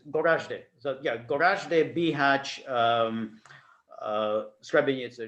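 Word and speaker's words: Goražde: Gorodnik? No, I don't know if I'm pronouncing that right. No, and I would Gorazde.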